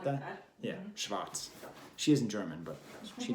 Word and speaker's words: Schwarz: I think that's, how would you pronounce Schwarz in German? Like that? Yeah, Schwarz.